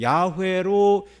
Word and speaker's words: 야훼: 그래서 이 자음에다가 아도나이의 모음을 붙여서 발음하니 여호와 이렇게 발음이 되는 거예요. 그래서 학자들은 여호와라고도 발음을 할 수 있지만 그 비슷한 단어를 발음하는 것을 이렇게 유추해 보면 야훼로 읽을 수도 있다, 그렇게 말하는 것입니다.